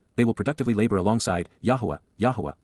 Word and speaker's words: Yahowah: Instead, they will work with, Abad, they will productively labor alongside, Yahowah, God's proper designation pronounced as instructed by his Torah, guidance on his YAHOWAH,